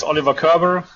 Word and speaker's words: Oliver Körber: the name the name was great so it's Oliver Kerber so um yeah welcome everybody to this coffee